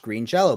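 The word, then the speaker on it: Green Jellö: yeah with two T's green jelly is actually pronounced Green Jello but they got sued by Kraft Foods who's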